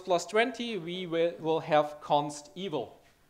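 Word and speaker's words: consteval: 20 we will have Const evil and I hope I pronounced this right because it's not evil it's evaluated at compile time little bit different than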